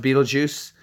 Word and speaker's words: Betelgeuse: more precise to say it correctly but it's pronounced Betelgeuse but beetle guys no no it doesn't shrink